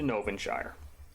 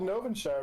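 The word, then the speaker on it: Gnovinshire: spell it how about i know what's called novenshire because of all the gnomes there it's g-n-o-v-i-n-s-h-i-r-e um that's what i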